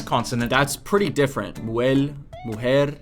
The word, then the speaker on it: mujer: Muel, Well, wow. The S consonant, That's pretty different. Muel, mujer.